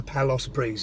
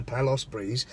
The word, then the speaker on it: Palace Breeze: my forever buy a Palos breeze I think I might pronounce it wrong before but it's a palace Breeze palace was a palace